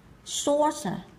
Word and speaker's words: saucer: Đang, từ tiếp theo là saucer, saucer, saucer, nào saucer, hai âm tiết đúng không ạ? Âm tiết là sự trọng âm nó rơi vào âm tiết đầu tiên đây, saucer.